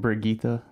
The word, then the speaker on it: Brigitte: if I'm mispronouncing it is it brigetta from overwatch something like this I'm brigita yeah like that's it almost offends me it's like it's rigid it's like Swedish or something but yeah brigetta or something like that